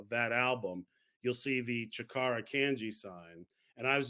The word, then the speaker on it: chakara: is your Mandate of and I hope I pronounced it correctly studio chakara uh correct yeah chakara is a a term Ki which is Japanese